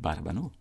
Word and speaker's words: batabano: And so it's not strange at all that we easily accepted and adopted the word batabano. Batabano from Spanish. Yeah, phonetically. Wow. Right. And so the emphasis is on the last.